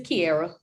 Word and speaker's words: Kiairra: which one is it it's Kiara okay cuz I see air in your name duh hell no that is exactly how it's spelled sound it out like